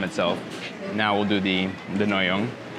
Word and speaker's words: Ngohiong: - Nyohiong. I said it right. - It's because there's no "ng" in France.